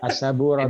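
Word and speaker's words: السبورة: As-saburatu. Jadi pakai tasdid Pak ya, diingat.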